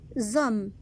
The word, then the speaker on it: hommes: Les hommes. La même chose ici. Le mot est au pluriel. Le S de les se prononce Z, les hommes. Et H ne fait aucun son.